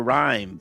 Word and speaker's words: Reim: Only I can never pronounce his last name properly, but it's Reim, correct, Tyler? Yes, Tyler Reim.